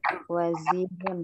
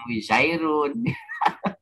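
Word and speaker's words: وزير: Ini kan harusnya bacanya wazirun kan ya, Bu? Iya Ustaz. Wazirun. Yang wizairun. Ya kan? Wazir. Iya, salah, Ustaz.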